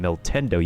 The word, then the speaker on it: Miltendo: Like in the case of my of my character name of my name, Mil Tendo, you pronounce the T.